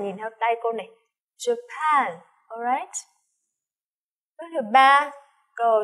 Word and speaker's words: Japan: Japan, nhớ là trọng âm mà trọng âm thứ hai này. Japan, nhìn theo tay cô này. Japan, alright.